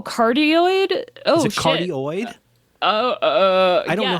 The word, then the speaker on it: cardioid: cardioid? I don't know how to yes. say that. Yes. But then there's also cardioid.